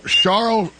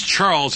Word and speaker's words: Charl: in Dublin Ohio Charles charl I can't even say his name Charles schwarzel A lot of people think it's Charles it's charl char chrl Charles schwarzel